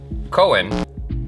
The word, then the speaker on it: Cohen: COHEN, even though it's got an H, you don't pronounce the H. Yeah. Or if you're in London or India, I guess it's H. Don't pronounce that. It's just a silent H.